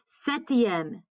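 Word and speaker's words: septième: would say sixth okay setiem setiem again they're set set is how you say seven so then set the m and then of course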